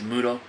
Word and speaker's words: Muto: name who is this guy his name is Muto in the states muta muta okay what happened his name is kg Muto but uh somebody couldn't say his name in